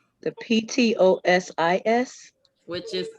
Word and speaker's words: ptosis: p is silent the p-t-o-s-i-s which is ptosis ptosis p is silent all right um which